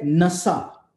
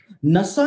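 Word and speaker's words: נשא: इसकी प्रोनाउंसिएशन जो है वो नासा नहीं है, लेकिन इसकी प्रोनाउंसिएशन जो है इस शब्द की हिब्रू भाषा में वो है नसा।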